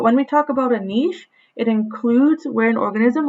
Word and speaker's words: niche: like i said um you may hear it pronounced niche you may also hear it pronounced niche um i've always i've always been taught niche so i'm going to continue to call it niche so when we talk